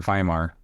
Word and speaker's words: Weimar: The Weimar Republic, or Weimar, if you're going to say it correctly, the Weimar Republic had